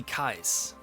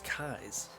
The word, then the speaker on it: Loomis: Now, the only celebrity that I had to meet was Nancy Kais. And yes, that is how you say her last name. Always thought it was Kais.